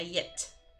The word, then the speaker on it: llet: Okay, so you do pronounce the double L, the LG, la llet. La llet. Which sounds like a Y, yet.